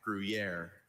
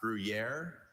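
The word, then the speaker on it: Gruyère: Gruier.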